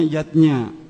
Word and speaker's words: yajna: artinya lima macam selamatan zatnya tulisannya yajna Ayah Bunda tapi membacanya yatnya yang pertama adalah dewayatnya